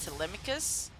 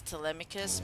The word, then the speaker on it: Telemachus: I don't know if it's pronounced Telemachus. I mean, the songs in Epic pronounce them as Telemachus, but in other iterations it's pronounced as Telemachus.